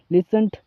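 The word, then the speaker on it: listen: बोल सकते हो आप लिसन लिसन लिसन ठीक है और इसमें टी साइलेंट होता है दोस्तों।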